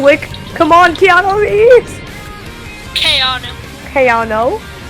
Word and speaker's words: Keanu: Keanu. Keanu. I looked it up. It's how you say it.